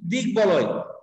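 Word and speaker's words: দিগ্বলয়: ঠিক আছে, পরে যে ইসে যাচ্ছি যে যদি সন্ধিজাত শব্দ থাকে, অর্থাৎ যেই শব্দগুলো সন্ধি যোগে গঠিত, এই সন্ধি যোগে গঠিত শব্দগুলোতে যদি ব ফলা থাকে তাহলে বয়ের উচ্চারণটা বজায় থাকে। যেমন হচ্ছে দিক বলয়, হ্যাঁ, অর্থাৎ দিক যোগ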